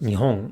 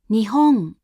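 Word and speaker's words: 日本: In a word like sang or nihon, when there is no following sound, the hatsuon again is pronounced as a voiced uvular nasal.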